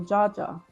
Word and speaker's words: Jaja: The J makes a J sound. Okay. So, Jaja.